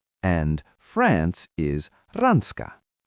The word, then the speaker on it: Ranska: And France is rans.